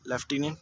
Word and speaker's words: LIEUTENANT: इसमें बहुत लोग कंफ्यूज होते हैं कि लेफ्टिनेंट में F आता है जबकि लिखने में F नहीं आता, तो ये LIEUTENANT लेफ्टिनेंट यूँ होता है।